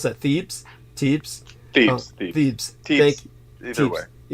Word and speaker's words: Thebes: So primary city of worship was, I think it was Thebes, or how do you pronounce that? Thebes.